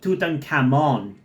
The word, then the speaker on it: Tutankhamun: You know, it's gonna be a little hard to adjust to saying Tutankhamun instead of Tutankhamon, because that's how it's pronounced in my language, and I'm so used to saying it like that.